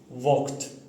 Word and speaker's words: walked: With some certain, let's say, syllables like consonants, when it finishes with ed, you have to say T, not D. Like walked, not walked or walked. You have to say T, walked.